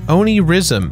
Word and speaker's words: Onirism: world it's only Rhythm only Oni rism I think that's how you pronounce it arcade of story mode